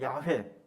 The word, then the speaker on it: 야훼: 믿는 하나님의 이름은 여호와예요 정확한 발음은 야훼 야외 하나님이 어떤 분이냐 그